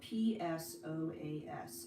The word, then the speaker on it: psoas: we would focus on the psoas muscle psoas is spelled p-s-o-a-s psoas and it's a very important complex hip